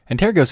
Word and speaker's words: Antergos: ghosts and tear gas antair ghosts is a Galician word that means ancestors Galicia is an autonomous community of northwestern Spain a developer from Ontario said